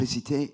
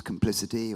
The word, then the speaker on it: Complicité: Complicité, yeah, you can say it like that, but it's now it's complicity or it's complicité, it's whatever you like, you know.